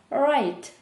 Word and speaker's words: write: «We woke up…» - «Ми прокинулися…» «at seven o’clock» - «о сьомій годині» «write» - «писати». Перша буква «w» не читається.